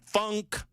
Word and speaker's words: Funk: The local DA is Glenn Funk. I say it very emphatically and purposefully because I've said it wrong in the past. Got to say funk.